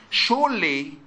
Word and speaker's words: sure: Adverb because it has in surely is the only word with sugar that has is u and is su. So sure sugar. This is the only two words that have su pronounced as sha.